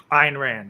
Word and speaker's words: Ayn Rand: I'm talking about Ayn, I think, how do you say it? Ayn Rand? Ayn Rand, yeah. Ayn Rand, sorry.